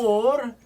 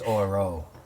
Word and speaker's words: Orel: or, A-L-E. O-R-E-L. Or. I thought it was Oro. I've been wrong. I thought it was Oreo. Not Oreo. Oreo. Yeah. Or. He's clearly saying Orville. Or.